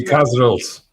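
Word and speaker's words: Kasrils: Ronnie Cas, how do I pronounce Cas? Ronnie Casil.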